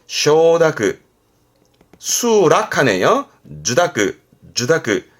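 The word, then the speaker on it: 受諾: 주다크, 주다크.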